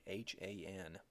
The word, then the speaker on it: Han: of the Chinese classical age however is the Han Dynasty Haan it was during the Han Dynasty that Confucianism